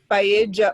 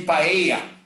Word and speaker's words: paella: But in English, they say paella. But no. Yeah. You know, it's the American way of pronouncing paella, okay? But in Espanhol is paella.